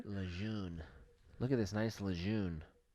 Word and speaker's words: Lejeune: know Camp Lejeune yeah sounds like you just pronouncing lagoon wrong no it's Camp Lejeune Lejeune look at this nice